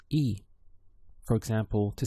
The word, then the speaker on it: y: for and which is spelt as a y in Spanish and the pronunciation is e for example to say